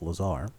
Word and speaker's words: Lazar: whose name is laser well it's not laser it's Lazar it's spelled laser no it's not yes it is it's La a z a r right yeah isn't